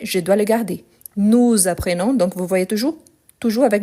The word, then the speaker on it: apprenons: Donc, apprenons, je ne prononce pas le S.